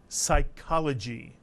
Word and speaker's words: psychology: In the word psychology, the P is silent.